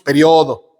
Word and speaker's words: periodo: uruguayos y las argentinos Ellos dicen período y lo acentúan nosotros decimos periodo y no ti acento entonces hagan lo que